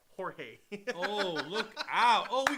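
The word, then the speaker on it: Jorge: sin she said George's name is spelled is pronounced hey h o r h a y horge oh look out oh we got KK standing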